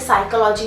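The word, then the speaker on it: psychology: अरे कई बार होता है ना, जैसे साइकोलॉजी में पी साइलेंट होता है, जब तक आप पढ़ेंगे नहीं तो आपको पता कैसे चलेगा कि उसकी स्पेलिंग पी से स्टार्ट होती है और उसका पी साइलेंट होता है। उसको नहीं हम मतलब बोलते, हम साइकोलॉजी बोलते हैं, साइकोलॉजी नहीं बोलते हैं।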